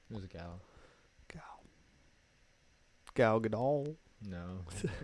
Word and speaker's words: Gadot: Yeah, Gal Gadot, Gal Gadot. Gadot. I guess that makes sense too, because it ends with the T. Gal Gadot. Yeah, that's probably what should probably pronounce it as.